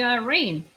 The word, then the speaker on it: Raiyn: And also, you could just call me Rain. You know, kind of like the weather. It makes sense when you say it like that.